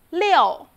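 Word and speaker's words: 六: to zero number six leo leo please take a look at pinging the vowel iu doesn't pronounce like you actually it pronounced like yo together yo yo with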